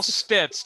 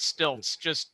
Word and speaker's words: Stitz: it's Stitz, not Stilts.